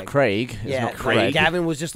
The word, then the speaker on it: Craig: Quantum VES apparently everyone's upset with how we pronounced Craig Daniel Craig it's Craig Craig Gavin was just like Daniel Craig [